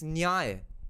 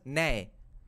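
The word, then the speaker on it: ন্যায়: It's nyay. In Bengali, we pronounce it as nay.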